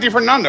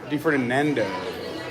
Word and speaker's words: Di Ferdinando: But you pronounce it Di Ferdinando, right? Di Ferdinando. Like the Mando.